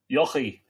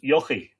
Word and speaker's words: Yochi: So, Anthony, I thought Yochi. Well, I pronounce it Yochi, but there are different pronunciations of it, Regina. But the important thing is that there's a sort of a Y sound at the beginning of it, you know.